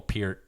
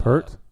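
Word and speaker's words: Peart: for that song Neil Pier um tapped into uh per or Pier it's all right how do you spell it I said per too p e a r t huh all right yeah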